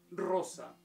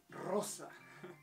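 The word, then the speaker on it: Rosa: Анастасия, Анастасия, Ева, Эва, Регина, Регина, Анжела, Анхела, Елена, Елена, Роза, Роса. Твердая «р» и «с» мягкая. Роса.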